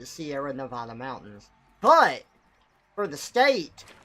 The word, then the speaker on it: Sierra Nevada: this going out there the mountain range is called the Sierra Nevada mountains that is how you say it that is how the people out there say it they say Sierra Nevada mountains but for the